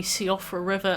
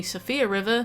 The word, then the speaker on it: Siofra River: Limgrave as Limegrave, the Siofra River as the Sophia River, Commander O'Neill as Commander